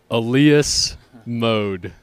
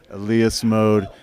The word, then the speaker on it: Elias Mode: ELIAS Mode. ELIAS Mode.